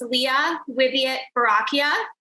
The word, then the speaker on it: Lea Wiviott Boracchia: So my name is pronounced Leah Wiviott Boracchia.